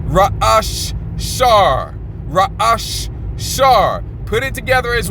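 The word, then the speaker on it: ראש: Raash.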